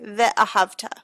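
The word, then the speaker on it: וְאָהַבְתָּ: If the shva comes at the beginning of a syllable, it makes an uh sound, like ve'ahavta.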